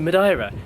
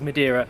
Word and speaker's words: Madeira: Now, I'm not sure exactly how you're supposed to pronounce this, but that's how my friend Margarita pronounces it, so I'm gonna go with that. I've always thought it was Madeira.